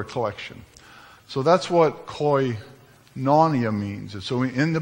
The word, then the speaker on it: koinonia: I don't even know how to pronounce it. Koinonia. Koinonia is my best shot at it.